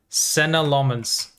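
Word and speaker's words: Senne Lammens: I think I think in his first interview he said Senna Lmens, right? That's how he pronounced it. Yes, it's Lmens. Lmens. Yeah, Senna Lommens is how he said it.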